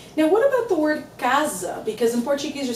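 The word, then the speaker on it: casa: an an easy rule when you have one s between two vowels you read like a z Kaza almost like the word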